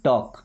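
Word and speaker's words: talk: We miss some टॉक, देखिए L silent है ना, टॉक, टॉक का मतलब बात करना।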